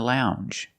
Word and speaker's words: lounge: longer and we have the Jew sound the regular n plus the ju sound Lounge lounge and another one when